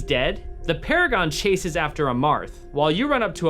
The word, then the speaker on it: Amarth: As you head across the chasm, you see the Paragon of Courage fighting Amarath. Amarth. I've been saying his name wrong the entire time.